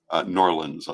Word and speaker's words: New Orleans: And so a year from now, I hope that you will join us for Lustration in New Orleans, or Norlands, as I believe it is commonly pronounced.